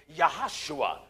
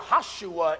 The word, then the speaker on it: Joshua: the son of nun there is no JS in the Hebrew language so the proper pronunciation of Joshua would be yahushua that's right yahushua in English is Jesus